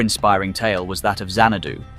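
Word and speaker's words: Xanadu: tale was that of zanadu pronounced as xiandu the grand Abode of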